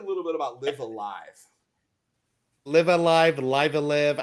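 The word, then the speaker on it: Live A Live: bit about live alive live Alive live and live I I still don't know how to pronounce it says it's live alive and he was in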